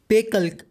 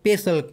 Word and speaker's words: PACELC: In this video of scalable thinking, we are going to learn about the PACELC or PACELC, whatever you want to say, algorithm. I am going to pronounce as PACELC, but whatever floats your boat.